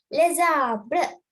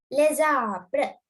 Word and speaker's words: les arbres: ඊළඟ word එක vowel එකකින් පටන් ගන්නවා නම්, then when you're pronouncing it, have a small slight Z sound. දෙක එකට එකතු කරලා චූටි Z sound එකක් ගන්න. For example, les arbres. Les arbres.